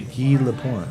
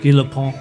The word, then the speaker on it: Guy Lapointe: They actually say that the French pronunciation in the movie. Guy Lapointe. Guy Lapointe.